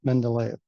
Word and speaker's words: Mendeleev: I want an authentic pronunciation of Mendeleev.